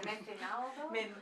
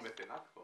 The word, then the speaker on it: mecenazgo: Es que no lo pronuncio. ¿Mecenalgo? Mecenalgo. ¿Mecenalgo? Sí, no sé cómo se dice en inglés. No, mecenazgo.